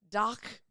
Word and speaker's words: DACH: And I had a friend who speaks German tell me how to say it, and it's like, ugh. She's like, oh, like you're saying, ugh.